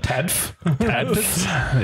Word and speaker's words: TADFF: And or how do you pronounce TADFF? TADFF.